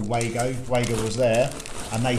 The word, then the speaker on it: Wago: was actually pronounced at vargo because it's um because of the w is pronounced b in germany it's a germany it's a german brand like wagner yes however michael did